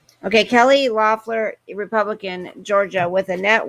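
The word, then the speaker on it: Loeffler: kelly loffler lloyd fleur loffler is how you say it kelly okay kelly lynn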